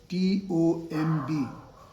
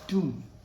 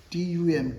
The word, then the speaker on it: tomb: For example, this word T-O-M-B. It is not Tom. The word is pronounced as Tum. T-U-M, Tum, right?